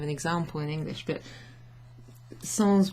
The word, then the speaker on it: sans: example in English, but sans will be pronounced with an S at the end in English as a borrowed word from French, meaning without something.